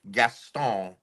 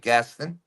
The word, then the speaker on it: Gaston: Laura the Explorer, Virginia, Lake Gaston, as I like to mispronounce it, but Lake Gaston.